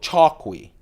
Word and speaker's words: Chokwe: here is a spidal chalki Choi chalk I heard it pronounced differently C h o kwe again it's based on a traditional knife from Zambia it is discontinued